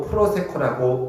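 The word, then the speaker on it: προσέχω: 이것을 헬라어 원어로 프로세코라고 읽습니다.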